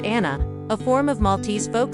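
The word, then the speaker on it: Għana: Don't miss the chance to hear traditional Gicana, pronounced Anna, a form of Maltese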